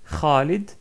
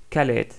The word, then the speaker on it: Khalid: KH pour présenter RA comme dans le prénom très connu Khalid Khalid donc tous les Français connaissent par Calet Calet donc comme j'ai dit